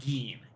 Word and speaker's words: Gein: Ed Gein. Got it. It rhymes with bean.